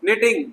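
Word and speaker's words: knitting: है तो जहां जहां ग्रीन डॉट्स हैं वो साइलेंट करना है। जी हाँ, निटिंग बुनना, कुछ भी बुनते ना स्वेटर वगैरह, निटिंग करना।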